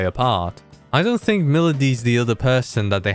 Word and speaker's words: Milady: going to introduce called milady actually it's pronounced melody she's a devil sumner